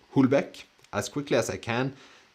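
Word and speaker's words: Houellebecq: so let's see here I think it's pronounced as if starting with a like W like Welbeck okay so if I'm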